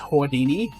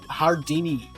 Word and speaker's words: Houdini: First of all, it's pronounced Houdini. No, it's Hardini.